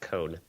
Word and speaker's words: Cohn: Because my brain keeps on confusing it with Trump's attorney, Michael Cohen, which just has an extra E in there. Anyway, right, but this doesn't have an E. This would be pronounced Cohn.